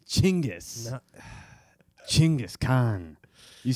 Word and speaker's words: Genghis: I get why the French made it Genghis. Genghis sounds so much cooler to my white ears. Genghis sounds silly to me. Chinggis.